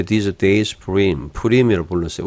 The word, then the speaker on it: Purim: Therefore they called these days Purim. 푸림이라고 불렀어요. 우리나라는 부림이라고 하지만 히브리어 페 같은 거는 피가 맞죠. 푸림이 푸르라고 발음하는 게 더 맞아요.